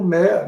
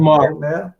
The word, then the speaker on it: Maher: Bill Mayer. What did he say his name? Bill Mayer? Bill Maher. Bill Maher.